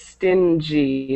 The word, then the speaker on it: stingy: Just make sure when you're um pronouncing it that it's stingy. Not stingy. It's stingy. Okay.